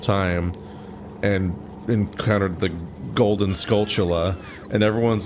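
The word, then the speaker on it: Skulltula: and encountered the golden scultula and everyone's like, "Wait, oh no, is that how it's pronounced?" And it's like, "Yeah, it's a tarantula, the spider."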